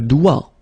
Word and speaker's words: doigt: Okay, so don't be frightened by this G because basically you don't pronounce it and then the final T you don't pronounce it. So the only thing you get to pronounce is this combination of three letters, sorry, here, D, O, I, okay? O, I, it's wa, and then D, doigt.